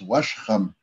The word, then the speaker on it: Wishram: reference of the, actually it doesn't look like it's pronounced Wishram, but it's looks like it's with that barred eye sound with the Washram, Washram, Wishram. So it is the same, but it's Washram.